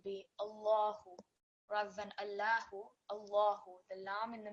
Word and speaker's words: Allah: out or Dunois that the law said that which appears in the middle of the word Allah it will be read as a thick law so all other examples